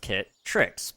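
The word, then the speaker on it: Kitt Tricks: So, hello, I'm Kit Tricks, pronounced Kit Tricks, but you can just call me Kit, spelled K-I-T-T.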